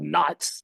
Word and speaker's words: Neitz: Germany hence the well should be called Knights actually because in German it's Knights rather than NS but you know they came